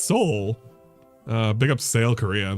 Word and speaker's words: Seoul: this one is in Seoul Korea Seoul sail or Seoul Korea I don't know how to pronounce it oh really this one is in he said it right the first time it's Seoul uh pick up sale